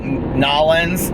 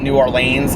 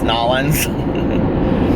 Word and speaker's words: New Orleans: I learned because I it's like nollans it's not New Orleans it's nollans just like it's not Illinois's